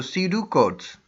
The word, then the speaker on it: pseudocode: flowchart and su decodes P is silent so C do codes what is an algorithm